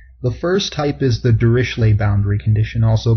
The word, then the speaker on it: Dirichlet: The first type is the Dirichlet boundary condition, also called the Dirichlet boundary condition. I tend to go with the French pronunciation.